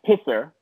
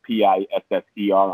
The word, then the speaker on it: PSSR: it right well well the the band is pronounced pisser p-i-f-f-e-r um but well we call the pssr